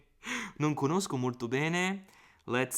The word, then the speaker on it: non: Non is the proper pronunciation. I'm doing it too English here.